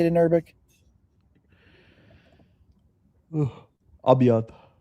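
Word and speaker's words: أبيض: Abiad.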